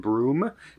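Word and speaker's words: Broome: and she's in I I think you pronounce it broom b-r-o-o-m-e in Western Australia and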